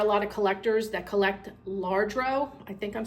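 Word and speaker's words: Lladró: is I don't know if anybody's familiar with larro I don't even think I'm saying it right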